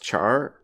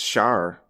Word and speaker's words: Char: let's get back to char and uh apparently according to the dub it's not strictly pronounced char it's pronounced shar which is just crazy